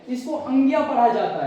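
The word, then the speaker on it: ङ: वाला वर्ण है इसको अंग्या पढ़ा जाता है, याद रखना, इसको अंग्या पढ़ा जाता है, अड़ा पढ़ा नहीं जाता है। क्या पढ़ा जाता है, अंग्या पढ़ा जाता है।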